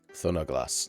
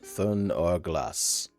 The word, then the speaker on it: Thunderglass: Okay, so this is pronounced Thunderglass. Thunderglass, that's how you pronounce it. Thunderglass. This is just A. Even though it looks like it's A-E, it's just A.